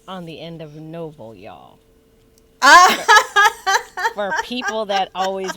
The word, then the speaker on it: Noble: There's no S. Noble. Singular. Not silent E on the end, please, and thank you. Not noble. Not noble. Not nobles. Noble. Noble. Period.